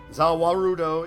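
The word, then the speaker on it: ザ・ワールド: Zawarudo is just how the Japanese pronounce the world, which is Dio's stand.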